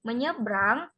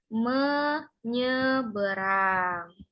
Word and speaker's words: menyeberang: pengucapan huruf atau kata misalnya kata menyeberang menyeberang ini tidak dibaca dengan menyeberang kalau menyebrang Berarti ada satu huruf yang ketinggalan jadi cara membacanya yang benar yaitu menyeberang paham baik sudah paham